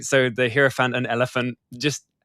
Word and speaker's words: hierophant: Like um the hierophant um sorry, am I am I pronouncing that correctly again? Yeah. What? Hierophant or hierophant? Either way works.